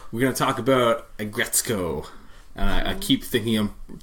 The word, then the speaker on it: Aggretsuko: Start saying Aggretsuko. Yeah. Start with Aggression and then go to Retsuko.